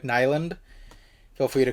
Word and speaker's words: Nylund: was written by Eric, I believe the way you say his name is Nylund, but it could be different. But for now, I'll be pronouncing it Eric Nylund.